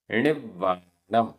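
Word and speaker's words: णिव्वाणं: णिव्वाणम, आधा व पूरा व, णिव्वाणम।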